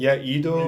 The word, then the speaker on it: Edo: And number 5, you're gonna have to help me out here with the pronunciation. Is this a Japanese situation? It's a Japanese. Edo. Edo.